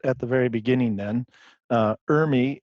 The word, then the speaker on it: ERMI: good foundation of what Urmi is and what it is not well good so let's start at the very beginning then Urmi is spelled er mi and stands for environmental relative moldy dis index I always laugh when